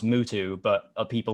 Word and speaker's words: Mutu: anyway yeah um i guess technically his name's pronounced mutu but of people call him mewtwo and that would be mew2 the pokemon so